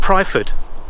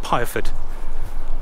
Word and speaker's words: Pyrford: so Nicholas over there I was calling it private all the way through the video a few people corrected me it's piaford people get really upset if